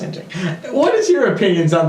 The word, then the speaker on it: Nanjing: I thought it was Nanking. No, it's Nanjing. It's pronounced Nanjing.